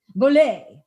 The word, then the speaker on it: Bolét: freaking awesome is boley she doesn't rhyme with robert goulet boley actually how freaking awesome